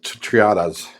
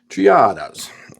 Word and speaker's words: Triada: But going through that, I noticed I had some of these old uh sala uh Triatas. Triadas. Roll my R.